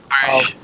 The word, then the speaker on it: Brugge: I think they're gonna win the next two games against Club Brugge, however you want to pronounce it. Bruges.